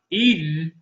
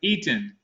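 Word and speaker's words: Etin: Not Eden, but Eaton. Eating. It's spelled E-T-I-N. Eating. Eaton. And ain't no G on it. You don't want a G.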